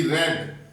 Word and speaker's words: read: Change into past indefinite, Y सी रेड, READ, spelling वही रहेगी, बोलने में फर्क आ जाएगा। रीड रेड, वाई सी रेड this